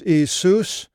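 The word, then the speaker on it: Ἰησοῦς: But it is what it is, so now you know it's Jesus, Isus, as his name in Greek, and the rest of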